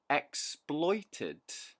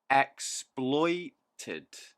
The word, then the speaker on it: exploited: a really good one exploited three syllables stress on the second syllable exploited exploited exploited is the act